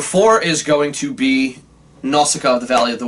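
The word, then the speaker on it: Nausicaä: of the wind and if we pronounce it like they do in the movie now Scott now stop up the valley other ways yeah it's how he says that in Japanese okay that's outcome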